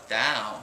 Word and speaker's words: Tao: Yeah, you've got to pronounce it proper, like a scholar. Tao.